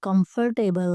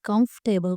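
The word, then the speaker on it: comfortable: ये कंफर्टेबल नहीं है, ये गलत प्रोनाउंसिएशन होती है। इस ये कंफर्टेबल जैसे वेजिटेबल वैसे ही कंफर्टेबल पढ़ा जाता है।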